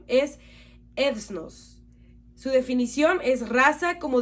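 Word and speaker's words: ἔθνος: Esta palabra es del Strong griego 1484 y su pronunciación es ethnos.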